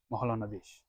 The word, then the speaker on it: Mahalanabis: Dilip Mahalanabis, or in the proper Bengali pronunciation, Mahalanabis.